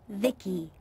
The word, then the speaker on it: V.I.C.I: transistors by the way i'm vici pronounced vicky my creator was vivi